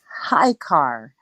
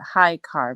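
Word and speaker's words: Ahikar: called The Book of High car that's the way you pronounce it High car but it's spelled a h i k a r but it's High car which is supposed to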